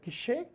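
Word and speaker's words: cache: internet que são a Cash que vem na pronúncia correta seria quê tá aí todo mundo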